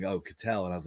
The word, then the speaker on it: Ketel Marte: calling him Kettle Marte, and I'm like, then I heard him the other night. They were like, "Oh, Cattell," and I was like, "Okay, that's not how you say it."